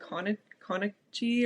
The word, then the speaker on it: Konecny: do you know Carly, I think Konichi or I don't know how to say her last name. Her husband played Oh, Carly Konecny? Kaneki.